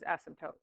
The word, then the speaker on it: asymptote: But you know, I think it was actually that the sub was spelling it phonetically because that's how you pronounce it, is asymptote.